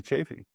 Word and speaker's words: Chaffee: the first time and talk to Dr Anthony chaffy do I did I pronounce that right yes yeah yeah thank you